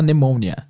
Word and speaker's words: pneumonia: pneumonia então é pneumonia se escreve exatamente igual pneumonia mas se fala pneumonia which affects que afeta